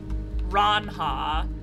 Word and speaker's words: Ranja: cat name i submit ranja so pronounce ra ron ranha from naranja orange that's a cute one